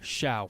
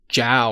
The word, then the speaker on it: Xiao: this guy right here Xiao he's unreleased as well and I said it right I swear to God I used to call him jao or something and I've been saving